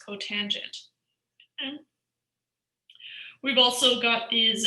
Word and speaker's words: cotangent: So CSC is cosecant, SEC is secant, and COT is cotangent.